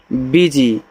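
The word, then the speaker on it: busy: बी यू एस वाई। तो इसको पढ़ते हैं बीजी। तो यहां देखो बी आपका बी ही होगा। इसका उच्चारण करोगे नहीं। एस के बाद वाई है। इसको जी पढ़ते हैं ऐसे। वीजी।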